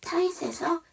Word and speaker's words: tight: 타잇에서 GH가 묵음이죠. 발음이 안 나요.